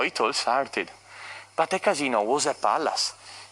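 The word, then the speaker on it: casinò: does it mean a casino casino with the accent on the o is the place for gambling casino means a courtesan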